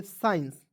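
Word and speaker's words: science: क्या पढ़ेंगे साइंस क्यों क्योंकि एस के तुरंत बाद देखिए यहां पे एस के तुरंत बाद सी आया तो सी को साइलेंट कीजिएगा एस आई तो इस पढ़ेंगे साई ई एन सी ई तो हो जाएगा साइंस ठीक है उसके बाद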